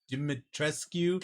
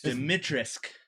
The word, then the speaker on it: Dimitrescu: turned lady i can't say her name demet dimitrescu no it's the mitrisk because they said you don't say the queue